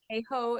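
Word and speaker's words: Hayhoe: it's Katherine hey Hawk that says heho yes heho is that how you pronounce it thank you um the single most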